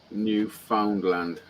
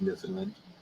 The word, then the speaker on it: Newfoundland: i'm saying it correct it says newfoundland to me maybe some new guy found it and a new finland rhymes with understand understand you found that yeah newfoundland understand i wrote a song